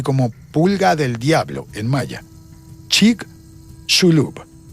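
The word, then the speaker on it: Chicxulub: Chic shulub. La X, según las instrucciones que vi, se pronuncia como sh, así como argentino, chig shulub.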